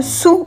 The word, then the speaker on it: Saou: était nous sommes à sa se prononce sous en fait tout simplement donc répéter çaou